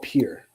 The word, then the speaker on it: Pyure: The other one is called Pure. Okay, it's this item right here. I'm not trying to add it to my cart, but this one right here is the main one that I use. It's spelled Pyure.